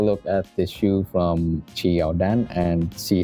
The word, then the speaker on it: Qiaodan: It's because the brand's name, pronounced Qiaodan or Qiaodan, is a transliteration of Jordan in Mandarin Chinese.